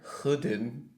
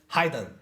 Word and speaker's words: hidden: it goes yeah cuz everybody is saying in Hidden I think I heard hooden uhhuh yeah that well that's really interesting it's like oh I have so many people many programs many coworkers just said oh just say that object hidden okay can you do that for me every time I have to correct it so this is hidden right yes hidden yeah it's mean to hide something and it's another form